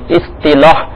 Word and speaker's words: اصطلاح: اصطلاح طا کے نیچے جو ہے زیر، اس کا تلفظ یہ اصطلاح، کیونکہ تلفظ کی درستی والا بھی مدنی نام ہے.